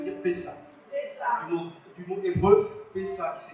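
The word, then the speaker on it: Pesach: Du mot hébreu Pessa, qui s'écrit comme ça, se prononce P-E-2-S-A-H, qui signifie enjamber, passer par-dessus.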